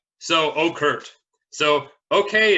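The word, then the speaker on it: okurrt: you rr-rr-rr-rr T or okert but the way you actually pronounce it is as if a pigeon was saying it so it's more of like Evan Oh Kurt but the T is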